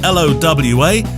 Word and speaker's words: Lowa: Also this month and next, we're sponsored by Lowa Boots, spelt L-O-W-A, pronounced Lowa.